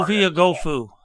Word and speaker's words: Ovie Oghoufo: It was, however you say the other edge rusher, Oguafu, I still can't say his name. I'm sorry. Ovie Oghoufo.